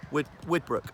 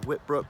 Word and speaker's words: Widbrook: Widbrook. Yep. I always say the name wrong. Whitbrook have been given 400.